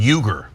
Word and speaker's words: Uygur: Cenk, this is pronounced like a J, Cenk, and then Uygur, Cenk Uygur.